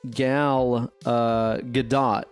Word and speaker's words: Gal Gadot: day that made me so unbelievably stoked apparently gal gadot is how you pronounce it right yeah yeah she said that